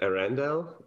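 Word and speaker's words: Earendel: Pronounce it for me. What's the name of it? Yeah, I named it Arendelle, which is an old English word that means the morning star.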